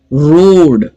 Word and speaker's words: road: रोड, यहां पर भी ROAD, लेकिन साउंड सिर्फ 3 है, रोड, ओके।